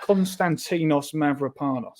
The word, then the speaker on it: Konstantinos Mavropanos: How do you pronounce his real name? Go on. Dinos. Go on, give it a go. Konstantinos Mavropanos.